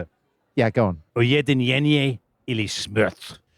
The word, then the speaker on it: Ujedinjenje ili smrt: Ujedinjenje ili smrt. Because you've got to raise your voice at the end of that, because there is an exclamation mark.